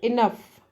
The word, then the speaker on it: enough: So here enough. So in this case, enough, GH is pronounced as fur, right?